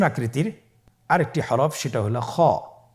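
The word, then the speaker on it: خاء: খ হরফটি হলো মোটা হরফ, উচ্চারণের ক্ষেত্রে মোটা হবে। ছবিতে দেখুন খ হরফটি কীভাবে উচ্চারণ করতে হবে। খ হরফটির মাখরাজ হলো কণ্ঠনালীর শেষ ভাগ হতে উচ্চারণ করতে হয়, কণ্ঠনালীর শেষ ভাগ।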